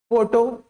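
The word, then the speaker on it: photo: जभी भी आप किसी वर्ड में पीए देखते हो पीए है ना तो उसको एफ पढ़ोगे फ ठीक है फ नहीं फ नहीं फ ठीक है तो देखिए इसमें क्या पढ़ेंगे अपन लोग पोए का मतलब एफ लिखा है समझिए एफ एनी पोन फोटो फिजिक्स फार्मेसी ठीक है तो ये सब अपने वर्ड्स हैं।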